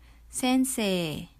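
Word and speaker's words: 先生: and so on sense Sensei notice that we have a long vowel at the end say okay sensei again another long vowel so um the difference between Sensei and kosi is that Sensei is only um referring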